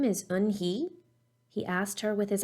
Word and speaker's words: Unhei: turning around it was joey your name is un-he he asked her with his eyes open wide yuen hey looked quickly at mr kim then turned to joey she nodded slowly yes it's pronounced yun-hey and it means grace mr kim added joey